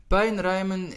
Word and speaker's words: puinruimen: Puinruimen is especially focused on the diphthong, which is quite difficult for quite a bit of people, and that's the U and the I. We pronounce it as ui. Puinruimen. If you hear somebody from the Netherlands, you will hear that U and the I sounds a little bit different, but in essence it gets pronounced as ui.